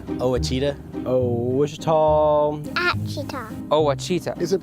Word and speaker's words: Ouachita: I've heard people say Ouachita. Ouachita. Achita. Ouachita. Is it pronounced Ouachita? Searching for Washita Baptist University. Back in Texas, everybody pronounces it Wichita, but really, it's Washita.